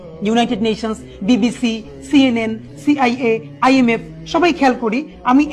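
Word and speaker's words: CIA: United Nations, BBC, সিএনএন, সিআইএ, আইএমএফ। সবাই খেয়াল করি, আমি এই অর্গানাইজেশনের নামগুলো যখন বলছি তখন কিন্তু আমি ইউএন আন বলছি না, বলছি ইউএন। সিআইএ কে কি আমি সিয়া বলছি না, বলছি কি সিআইএ।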